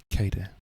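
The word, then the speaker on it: Kaede: return to kaider ker I learned how to pronounce it last week kada I'm just going to say cada uh that's her name uh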